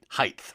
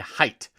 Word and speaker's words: height: of asterisk asterisk and puts a th sound at the end of height height right please spread the news of how these words should be properly pronounced asterisk and height so height is a